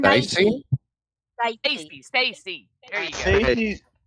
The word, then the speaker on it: Stace: that it's it's spelled s t a c e always pronounced as Stace and not Stacy that's never pronounced Stacy she is that way